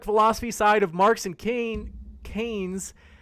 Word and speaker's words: Keynes: Coming in from the legend, Riv says, don't read one economic philosophy side of Marx and Keynes. Am I pronouncing it right? Says, yeah, Keynes.